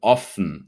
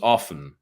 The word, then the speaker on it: often: about the pronunciation of often yeah the t is silent so it's often often often all right um